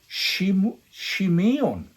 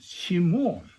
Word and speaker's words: Simeon: The pronunciation of Simeon, his second son, is Shimeon. Is Hebrew word Shimeon. Yeah, Shimeon. Then he brought Shimeon out to them. The English is Shimeon. Korean one is Shimon.